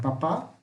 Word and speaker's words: papá: Vejam, ambas são oxítonas, porque diferente dessas aqui que são paroxítonas, essa é oxítona. Por quê? Veja onde está o acento. Está na última sílaba. Se o acento tivesse na primeira sílaba, aí seria uma paroxítona. Como está na última, é uma oxítona.